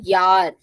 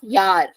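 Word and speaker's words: Jahr: Then if a word is starting from J, pronunciation will be of Y. So this word you see here is called yar. So your pronunciation, yeah, yar. Starting from J, pronunciation Y. Yar.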